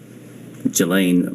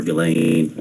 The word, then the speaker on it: Ghislaine: Um, as best as we know, it's been public reported that in 2024, uh, Gilain Maxwell or Gileain, I think it's how it's pronounced, arranged and wired $1